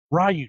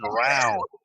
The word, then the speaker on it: Ryu: How's that pronounced? Ryu. Jesus, I feel like an asshole. I've been pronouncing Rao. Ralph. When I'm reading, I'm like Rao. It's not Raul.